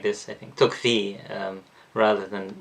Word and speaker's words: Tocqueville: how americans pronounce it tocqueville but it would be something like this i think took v um rather than because the ll in french is not pronounced in that way okay so he said